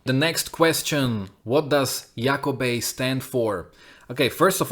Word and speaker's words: Iako Bei: He's kind of known for butchering most of the band names, but yeah, it's supposed to be pronounced Yakobe, and I would kind of compare it to Bon Jovi.